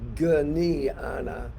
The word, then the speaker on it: Jnana: So, Jnana Yoga, it's actually spelled Jnana, and it's pronounced Jnana, meaning sounding like this, Jnana, Jnana Yoga.